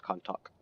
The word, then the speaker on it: Kontakt: then Marshall it blue it's pronounced to con talk 120 against kinetic energy